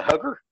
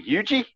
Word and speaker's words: Huger: Yeah, it's Huger. I'm like, "You mean Hugie?" Hugie. Hugie. Hugie. Oh, Hugie. Okay. Hugie. Yep. And they would start laughing. They're like, "How do you say it?" I was like, "It's Hugie." And he's like, "Well, it's spelled Hugger." I'm like, "I know." I was like, "But it's Hugie."